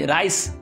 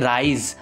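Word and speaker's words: rise: তার উচ্চারণ জেড হয় যেমন তো আর আই এস ই রাইস উচ্চারণ হয় না এটার উচ্চারণ হয় রাইজ আর আই এস আছে তো এখানে জেড এর উচ্চারণ হবে তারপরে আর ও এস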